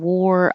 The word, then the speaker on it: wore: And war, spelled with an A, and wore, past tense, I wore this yesterday, both sound like OR, war.